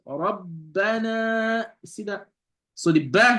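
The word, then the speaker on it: رَبَّنَا: So that's why shadda means doubling. It means the letter is doubled, right? Doubling, right? The letter is doubled. So when you pronounce this here, you will say Rabbana.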